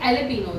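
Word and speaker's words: jalapeño: कि मैं पूछती तुमको जेस जे साइलेंट होता है। ठीक है? जे के बाद ए ही आता है बट जे साइलेंट होता है। ठीक है? तो अभी एलपीनो स्टार्ट हो रहा है जे से।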